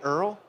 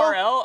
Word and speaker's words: URL: And also, did you say Earl? Earl, yeah, Earl. Just making sure. That's how you say it. Is that right? Earl, is Earl right? Let's show of hands. Earl? URL or Earl?